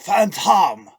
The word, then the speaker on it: Phantom: It's pronounced Phantom. No relation to that other guy. I don't know if emphasizing a different syllable is going to protect you from getting sued by the Phantom.